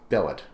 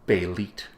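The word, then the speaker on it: Bêlit: every effort possible to instead of saying bellet say bit which is what Marvel apparently wants me to say so that's what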